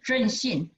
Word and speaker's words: ZNShine: Coating technology, and this is our company, Zenshine. Pronounced in Chinese is Zhenxin, Zhenxin, Zenshine.